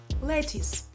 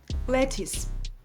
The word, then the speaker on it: lettuce: Lettuce. Many people pronounce this with a ch sound at the end. It should have a clear s sound. Lettuce.